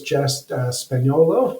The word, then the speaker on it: Jess Spagnolo: Kent Street West and Our Guest today is justess spolo did I pronounce that correctly yes you did awesome I